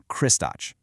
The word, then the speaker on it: Kristač: And then you have its complete opposite, Kristač, pronounced K-R-I-S-T-A-T-C-H.